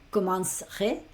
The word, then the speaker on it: commencerai: Entonces sería je commencerai. Piensa que la primera para la pronunciación sería como si dijera commence y luego aquí pronuncio el re. Pronuncio a partir de ahí la R con la terminación.